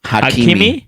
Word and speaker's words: Hakimi: How do you pronounce his name? Hakimi? Akraf Hakimi.